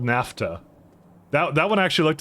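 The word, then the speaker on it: naphtha: into a and actually that is actually called NAFTA that that one actually looked at the pronunciation of yesterday CU I was also sure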